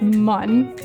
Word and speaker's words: Mun: I pronounce it mun. Mun. Because I remember that from the game, how they spelled it mun instead of moon.